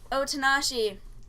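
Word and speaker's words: Otonashi: His name is Otanashi. You pronounced it right.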